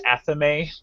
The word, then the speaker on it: athame: Hope I'm saying your username correctly, but they were correcting me that it's not a thame, it's Athame.